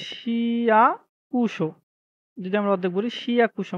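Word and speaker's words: 市役所: তারপরে দেখি আ সা শি সরি শিকুশো, হুম? শি শিকুশো মানে কি? সিটি কর্পোরেশন অফিস বোঝায়। সরি উচ্চারণটা হবে শিয়াকুশো, হ্যাঁ? এই যে শিয়াকুশো যদি আমরা অর্ধেক বলি শিয়াকুশো মানে সিটি কর্পোরেশন অফিস বোঝায়।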